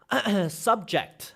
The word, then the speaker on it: subject: There are technically two ways to say it, but one is a noun and one is a verb.